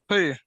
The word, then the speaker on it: three: that number for me three three right right okay how about this this word looks similar but it sounds different three tree okay A a tree